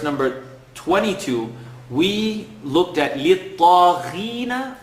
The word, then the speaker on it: لِلطَّاغِينَ: I know you remember in verse number 22, we looked at لِلطَّاغِينَ. The first time we were making a heavy letter, not so heavy.